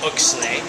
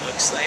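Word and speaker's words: Oechsle: yeah so they measure the sugar they call oay and they uh tell don't ask me how to spell it um o e c h s l e oay I think that might be right okay uh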